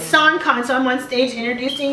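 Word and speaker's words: Sankon: I'm host he goes my name is not s con because it's spelled s a n k o n but it's s con so I'm on stage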